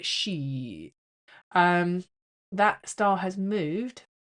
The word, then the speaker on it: Scheat: Saturn and Neptune were at 0 Aries, and the fixed star Sheeeeet. It's spelled Scheat, I think. Sheeeet. Anyway, I like to call it Sheeeeet.